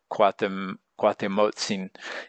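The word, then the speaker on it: Cuauhtémoc: Now, Cuahtemoc is spelled different ways. In this case, it's more like Cuahtemotzin, and that could be different ways of saying the name when you refer to him as different, either as a person or as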